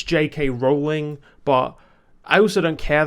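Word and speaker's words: J. K. Rowling: I'm saying 'JK Rowling' (incorrect pronunciation) in this video, just because I say JK Rowling by default. I know it's 'JK Rowling' but I also don't care that much.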